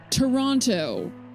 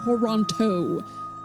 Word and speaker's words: Toronto: yes, this is in Toronto. Pronouncing the second like all of the T's heart. Toronto. No, you're that's not our culture here. It's Toronto. It's barely three. It's two and a half syllables.